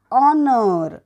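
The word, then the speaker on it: honour: पुढचा बघूयात एच ओ एन ओ यु आर ऑनर म्हणजे सन्मान सायलेंट लेटर एच पुढचं बघूयात जी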